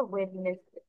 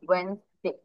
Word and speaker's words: Wednesday: কিন্তু ওয়েডনেসডে spelling তোমার ঠিক আছে, স্পেলিং অনুযায়ী তোমার প্রোনাউন্সিয়েশন হওয়ার কথা ওয়েডনেসডে, বাট ওয়েজ এটার অ্যাকচুয়াল প্রোনাউন্সিয়েশন ওয়েনসডে। কি হবে? ওয়েনসডে, নট ওয়েডনেসডে, আমরা অলওয়েজ মনে রাখবো।